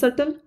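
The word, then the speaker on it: subtle: होना देखिए अटल difference सटल इसमें बी साइलेंट होता है स्पेलिंग इसकी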